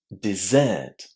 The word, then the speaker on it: dessert: Dessert. Can you hear the difference? Dessert is stressed on the second syllable. Dessert. There is a long air inside that second syllable.